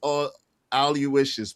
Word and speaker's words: Aloysius: It's pronounced all you wishes, but it's kind of spelled like all you wish.